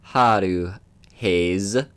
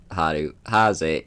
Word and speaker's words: Hayes: Yeah, believe it or not, the person I commissioned to make this logo thought it was Haze, and so they said Haru Haze, and I'm like, nope, that is not that's not how you pronounce it.